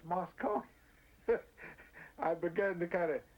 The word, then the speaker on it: Moscow: from Moscow I said don't you know how to pronounce that word that's not Moscow it's Moscow I began to kind